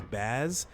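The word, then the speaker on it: Bazz: want her to say her name is baz like b a zz and I only remember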